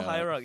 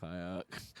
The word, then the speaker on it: Hierarch: name wrong for a few times and not been Hierarch. corrected. Yeah, Noble Hierarch, yes. There we go, Hierarch.